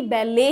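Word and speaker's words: ballet: T silent होता है। और यह एक फ्रेंच वर्ड है जो कि इंग्लिश में एज इट इज यूज किया जाता है। इसको फ्रेंच में भी बेले ही बुलाया जाता है।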